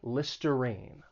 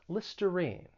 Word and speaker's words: Listerine: about this is that that r-i-n-e it's not pronounced rhine it's pronounced with that long e listerine listerine so in the comments